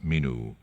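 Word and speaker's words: menu: owner of this minu he pronounced it in the Victorian manner minu Brown pocket it as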